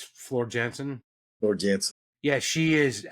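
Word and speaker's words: Floor Jansen: pronounced differently I'm sure I think it's like Flo Janssen but to my English eyes it's FL Jansen FL Jansen yeah she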